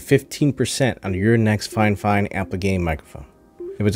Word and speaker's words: FIFINE: apple game usb microphone pronounced fine fine specifically by fine fine even though there's only one n in the name i'll be using the